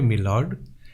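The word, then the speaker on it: my lord: Then the merchant লুকড upward and said, pardon মি মি লর্ড। এটা মাই লর্ড আছে, কিন্তু উচ্চারণটা হবে কিন্তু মি লর্ডের মতো।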